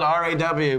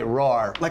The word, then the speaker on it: RAW: queens in Brooklyn the it's spelled r aw but I know people that is which would say I mean to me that that word is raw but the way they say roar like a lion roar give